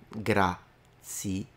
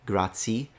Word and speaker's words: grazie: I think it's important to kind of enunciate it for foreigners so that you can tell that it's three separate sounds. In fact, it's saying here that it's often pronounced as grazie, and it's not. It's grazie, grazie, grazie.